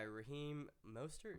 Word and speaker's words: Raheem Mostert: Next guy, Raheem Mostert.